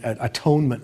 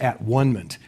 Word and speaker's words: atonement: The next stage for Campbell is the atonement with the father which Campbell always insists that we pronounce at onement instead of atonement which means that we